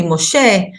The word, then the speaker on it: Moshe: their real pronunciation so Moses is actually Moshe avraham is Abraham that's